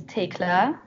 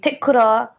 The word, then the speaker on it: Thekla: So, hi, my name is Thekla, aka the. I guess Thekla is the right way to pronounce it. Thekla is also fine. Thekla is also fine. In Japan, they say Tekura.